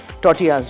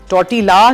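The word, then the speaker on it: tortilla: टोटियास जो हैं। ठीक है? टोटीला लिखते हैं लेकिन टोटिया बोलते हैं। एल साइलेंट है।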